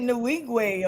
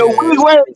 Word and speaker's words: Nwigwe: Pronounces it Nwigwe or something like that. Nuwaje, that's it.